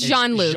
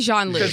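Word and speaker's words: Jean-Luc: think it's Jean it's Jean Luke it's definitely Jean Luke that's how they pronounce it in Australia it's Jean Luke is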